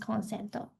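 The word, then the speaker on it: コンセント: It's pronounced consento, but it's like consent in English, but it might mean something else in Japanese.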